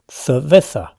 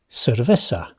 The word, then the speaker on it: cerveza: In the north, locals speak with distinción, making a crisp difference between the S sound and the soft C or Z, like the English th. Think of the word cerveza.